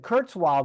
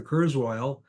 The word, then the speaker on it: Kurzweil: up Curts Wilds although when you started to call people and you said curtz wild they didn't know who you were because you were pronouncing the name differently than they would pronounce it back in galitzia yeah that's right I